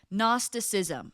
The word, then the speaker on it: Gnosticism: Gnosticism. Okay, it's spelled G N O S T I C I SM.nosticism.